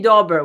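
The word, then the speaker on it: Daubert: instead of I think right instead it's actually Dober we've had this discussion with Michael I appeared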